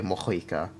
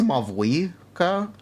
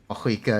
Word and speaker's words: Mavuika: Technically, it's Mavuika. You pronounce the V as a V, so Mavuika or Mavuika, Mavuika. It can also be pronounced with an H instead of a V, or spelled with an H instead of a V. Just how the name is derived. It is technically correct to pronounce it either way.